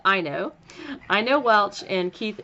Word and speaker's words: Aino: have on the show is I know it's pronounced I know I know Welch and Keith Anthony Taylor so